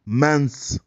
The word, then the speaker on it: mens: Ça vient de la langue latine qui se prononce mens. Le mot amusement, la terminaison de amusement se prononce dans la langue latine, se prononce mens. Dans la langue latine, on dit mens.